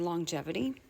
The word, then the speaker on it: longevity: So, if you look at it, if we were to divide this into syllables, I'm just going to start with the first syllable. We would divide here. When we do that, we split up our diagramraph NG in long. And this then becomes the N before a G making that sound.